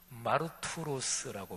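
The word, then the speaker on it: μάρτυρος: 증인이라는 헬라어는요, 헬라어로 발음하면 마르투로스라고 발음을 하는데, 근데 이 헬라어 단어 증인이란 말에서 영어 단어 순교자란 말이 나왔어요.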